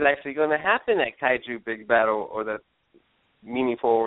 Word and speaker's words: Kaiju: is it cooi how do you say it Kaiju k big battle K big battle KU big